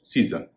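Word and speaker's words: season: एक शब्द आप देखिए एस ई ए एस ओ एन सीजन इसमें एस का उच्चारण जो बीच में आ रहा है उसका उच्चारण ज हो रहा है आइए हम कुछ ऐसे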